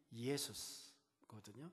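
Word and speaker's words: Ἰησοῦς: 원래 예수, 영어로는 지저스라고 하는데 헬라어에 가장 가깝게 발음하려면 예수스거든요.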